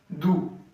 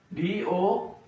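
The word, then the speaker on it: doux: Same example do d o u x. So here x is silent do.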